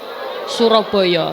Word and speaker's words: Suroboyo: Karena di sana, bunyi "A" yang diucapkan orang sering berubah menjadi "O ," sehingga Surabaya menjadi " Suroboyo."